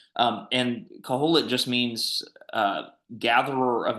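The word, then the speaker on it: קהלת: So um in the Jewish Bible, in the Hebrew Bible, um this book is called Caholit. That's how you pronounce that. Caholit.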